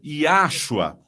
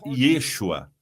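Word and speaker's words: ישוע: E eles dizem Yahua, bem, temos um problema, não com a mensagem ou com a sua intenção, senão que Yahua não é hebraico, é uma criação humana para pronunciar esse nome e é incorreta, não é fiel ao que diz o texto, que você o chamará Yeshua.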